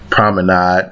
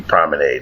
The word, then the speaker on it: promenade: Now I'm sorry, I was thinking of the French word promenade, means to walk. Promenade, so it must rhyme. In order for it to rhyme with made, it must be promenade.